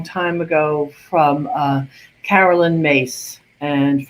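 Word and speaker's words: Myss: ago from uh carolyn mace and for those of you who say miss i think she pronounced it may so just so you know i'm speaking about the same person she she was the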